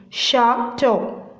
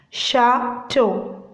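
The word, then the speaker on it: château: Chateau. Chateau. Okay. Fourth one. Creme. Creme. Creme. Brullee. Brullee. So you need to pronounce it as creme brulee.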